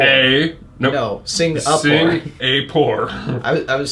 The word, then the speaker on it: Singapore: I thought there was an N in Singapore. Singapore. Singapore? It Wait, is- there is what's an the N. pronunciation? Singapore. I thought it was Singapore. It's SING. Sing Napore.